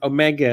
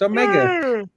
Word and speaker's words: Omega: Alexandros Foti, because Alex always says Omega, and I was thinking, well, I always fucking say Omega. Fuck, I'm saying it wrong. It's Omega.